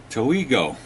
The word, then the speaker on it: Toigo: you can see it Joel toeigo I believe that's how he says anyway it's his 50